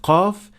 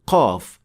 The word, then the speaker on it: qaf: mistake that is usually made by beginners is producing qaf way deeper than it should be. This happens when you try to exaggerate the sound, so it becomes way heavier and more difficult to pronounce than it should. And the mistakes sound like this. Qa, qa, qalu. This is also detected when you hear a hint of kha or ghain along with the sound of qaf.